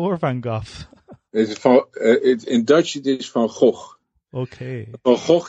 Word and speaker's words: Van Gogh: said no they didn't understand they said it's fine go now you give me that your Dutch is a fine go or Van Gogh is in Dutch okay oh you cannot say